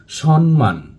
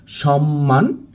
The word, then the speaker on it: সম্মান: ন ফলা যুক্ত রয়েছে, কিন্তু প্রকৃতপক্ষে এখানে যুক্ত রয়েছে ম ফলা।